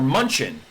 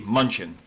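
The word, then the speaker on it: München: Or Munchen. If you're in Germany, it's all the signs that if you pronounced it like a dirty English person, it would be Munchen.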